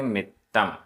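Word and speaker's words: मित्तं: गाथा क्रमांक 36 उच्चारण छिज्जाई आधा ज पूरा ज छिज्जई छिज्जाई तिल तिल मितम आधा त पूरा त तिल तिल मित्तम छिज्जई तिल तिल मित्तम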